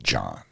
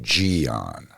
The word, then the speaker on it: Gian: Like my middle name is John, and it's pronounced exactly like John. It's not Gian. It's John because the I don't count.